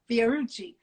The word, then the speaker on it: Fiorucci: I couldn't even pronounce Fiorucci. You know, Niall was like, no, Fiorucci.